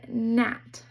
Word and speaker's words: gnat: The G is silent, so it says N, like in gnat.